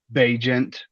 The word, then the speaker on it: Bagent: The Chicago quarterback, Tyson Bagent. I looked up how to actually pronounce it, folks.